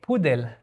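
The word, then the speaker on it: פודל: So, in Hebrew it will be with the e. Pudel.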